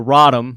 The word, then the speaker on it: Radom: for me what makes the radom or the Rodham they it's pronounced Rodham what makes the Rodham